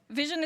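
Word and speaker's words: VSHN: Vision is spelled exactly as you see it and pronounced as the things that eyes do, right?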